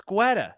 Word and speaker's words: Guetta: It's Guetta. You don't pronounce the U.